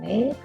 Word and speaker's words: は: And this is the particle wa, so it is pronounced wa instead of ha.